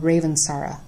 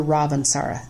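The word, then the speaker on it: Ravensara: But the one that you would do for children is called Ravansara or Ravansara. It's pronounced both ways.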